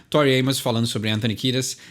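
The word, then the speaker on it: Kiedis: algum lugar errado mas ela fala exatamente Anthony kidas Então pronuncia tá correta então não tô espalhando informação errada no jeito de pronunciar o nome dele mas é vale a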